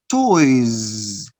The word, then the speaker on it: toys: Toy, the plural, toys. Notice you write the letter S, but you don't pronounce S. You pronounce Z.